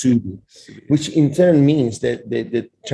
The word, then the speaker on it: Soudi: It's spelled like, in Arabic, it's spelled like Saudi Arabia, but it's pronounced Soudi, which in turn means